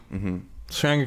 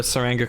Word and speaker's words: Tsuranga: Tsuranga Conundrum came out. How do you say feelings? Tsuranga Conundrum. Basically a silent T.